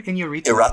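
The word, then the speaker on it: Iñárritu: Inarritu.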